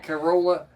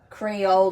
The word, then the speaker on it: Crayola: Corola. Corola. Crayola.